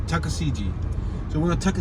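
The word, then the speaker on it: Tuckaseegee: right on jessica street tuskegee tuskegee how do you say that tuska cg tusca cg he make sure i pronounce it yeah tuscasiji natucka cg oh wow t-u-c-k-a-s-e-e-g-e-e road tucker cg tucker cg so we're gonna tuck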